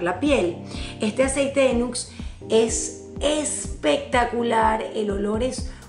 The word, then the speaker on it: Nuxe: Es una crema europea, se llama Nux, se escribe Nuxe, esta.